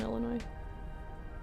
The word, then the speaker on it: Illinois: Do you pronounce the S in Illinois or is it without? I see. No s.